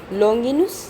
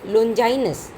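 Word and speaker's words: Longinus: लॉन्गिनुस, जिनका अंग्रेजी उच्चारण है लोंजाइनस, ये प्रथम या तीसरी शताब्दी ईस्वी के माने जाते हैं।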